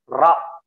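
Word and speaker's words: ر: itu untuk menebalkan ya ro. Jadi antum bisa taruh jari seperti ini, lengkukan lidahnya, ro ya, ro. Mulutnya tidak boleh maju, ro nggak boleh, ro ya, ru Nah, itu menebal.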